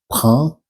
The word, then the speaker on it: prend: Here you can see prend, which is like a carry or Paul prend, and then there is a D at the end of prend, which is mute. You don't pronounce it.